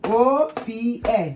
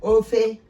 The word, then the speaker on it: ofe: o Pronounce after me. o o o f e ofe o f e ofe that's soup o o